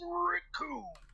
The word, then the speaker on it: Raccoon: The name's Raccoon. It rhymes with doom, and you're gonna feel pain all too soon.